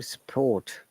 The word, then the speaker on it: support: this kind of work support in british english in most of the cases when the r letter r is the second third fourth or the last letter of the word it is not pronounced at all okay most of the